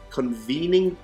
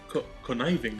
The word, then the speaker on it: Conniving: So, Undying Form on him, and then he has the Convening Plate. Is that how you say it? Convening? Conniving. Conniving. Conniving? Yeah. I forgot there's an I in there.